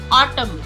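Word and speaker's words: autumn: हमारा N silent होगा ऑटम N silent है यहां पर ऑटम कंडेम कंडेम हाईम हाई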